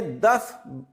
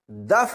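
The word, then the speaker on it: دف: वहां की लड़कियों ने दफ बजाकर इस्तकबाल किया था यह लफ्ज दफ नहीं है दुफ है दाल के ऊपर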